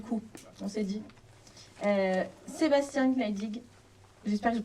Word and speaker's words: Gnaedig: Sébastien Gneidig, j'espère que je prononce comme il faut.